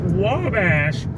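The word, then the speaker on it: Ouabache: to is is pronounced Wabash yeah but it's spelled in the Native American way okay o-u-a-b-a-c-h-e okay okay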